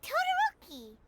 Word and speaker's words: Todoroki: It's not Todoroki, it's Todoroki.